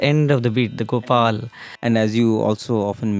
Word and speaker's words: Gopal: times when we sing Gopal, the la we miss to clearly pronounce. Yes. Gopal, and the la is never heard.